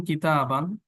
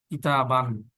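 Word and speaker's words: كتابًا: কিতাবান। গোলতা হলে আবার আলিফ হবে না, এখানে নাই, কিন্তু কলামান আলিফ হবে। তারপরে হচ্ছে জিদারান আলিফ হবে। এই কথাটা মনে রাখতে হবে, লেখার ক্ষেত্রে এটা প্রোনাউন্স হবে না।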